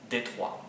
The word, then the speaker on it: D3: Then last year I decided to do D3, which in French is pronounced Détroit, the city of Detroit.